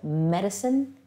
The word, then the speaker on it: medicine: The C here is a soft C, making more of an S sound, and that's because it comes right before the letter I. When C comes before I or E, it makes an S sound most of the time. So medicine, even though it has an S sound, has the C letter in the middle.